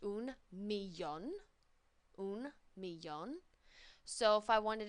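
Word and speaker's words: millón: a million and that's a cognate it's just pronounced un milon unon so if I wanted to say like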